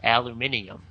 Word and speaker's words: aluminium: Uh that depends a little bit on where you are. Uh in the United States where I live it's aluminum. Uh but I think basically the rest of the world pronounces it aluminium.